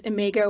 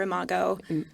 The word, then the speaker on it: Imago: Lindsay Lusby is the author of two previous chapbooks, Blackbird Whitetail Red Hand and It can be pronounced many ways, Imago or Imago.